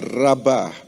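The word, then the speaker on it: רבה: Dalam bahasa Inggris multiply, dalam teks aslinya tertulis dalam 3 huruf Ibrani juga, yaitu res, bet, dan he. Bacanya adalah rabah, yang artinya adalah berlipat ganda.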